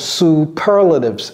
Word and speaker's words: superlatives: All right, so when using superlatives, c'est comme ça que ça se prononce, superlatives, superlative.